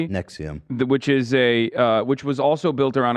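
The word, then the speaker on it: NXIVM: is what is similar to what happened with Nexium. I don't know if I'm saying it correctly. Yeah, Nexium.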